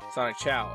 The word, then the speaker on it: Sonic Chow: Are you Sonic Chew? Sonic Cho. Sonic Cho. Second there. Scared me. No. Sonic Chow. Okay, Sonic Chow. Okay, that's how it's pronounced.